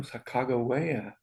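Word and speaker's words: Sacagawea: we do now let's head off to where Sago wayo was born oh shakago waya Saga that's how you say it yeah that's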